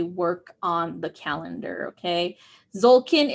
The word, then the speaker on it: Tzolkin: Okay, Zolkin is spelled Tzolkin.